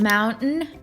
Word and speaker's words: mountain: Mountain and certain would also include important into this category. These two words are pronounced without the actual T sound, like as if you were trying to say no.